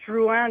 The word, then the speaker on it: Drouin: pronounce it correctly in French Yeah. as Drouin, that would be great.